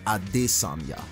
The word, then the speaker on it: Adesanya: you didn't know about Israel at this samya and yes you pronounced that name exactly like that my name is his